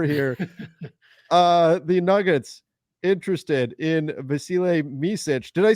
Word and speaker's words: Yabusele: The Nuggets interested in Yabusele Micic. Did I say it correct? Yabusele? You did. Yeah, I did. Okay. I'm always, well done. Hesitant when I'm pronouncing his name, but the Nuggets have some interest in him.